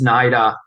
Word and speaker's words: NIDA: or it's an id yeah no no no it's yeah it's uh it's naida yeah okay how you